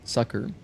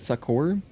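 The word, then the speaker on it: succor: Sakur or sucker? Sucker. It is Sucker. Like Sucker Punch Productions.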